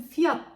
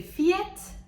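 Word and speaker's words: Fiat: olan markalardan biri olan bizim fiyat diye okuduğumuz olan bir marka Bu arkadan doğru telaffuzu iki şekilde olabiliyor biri fiyet diğeri faaliyet bu farklı neden kaynaklandığını ben de bilmiyorum ve sırada birçok insanın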